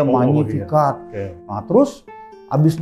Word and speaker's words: Magnificat: Lalu bacanya Magnificat. Latin kan G-nya nggak kebaca ya, Magnificat.